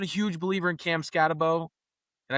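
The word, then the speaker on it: Skattebo: And I'm not a huge believer in Cam Scatabo and I don't call him Scataboo because his name is spelled Scatabo. I don't know why everyone goes with Scataboo.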